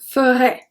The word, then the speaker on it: ferait: for the pronunciation, because the 5 first and the 2 last one are pronounced ferait, ferait. Because we don't pronounce the S, we don't pronounce the T, we don't pronounce ENT, so they're all pronounced ferait.